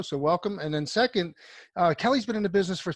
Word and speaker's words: Kele: acquiring so our first guest is the CEO kelly richard campbell and some people call Kili but it's actually pronounced Kelly Richard welcome to the show and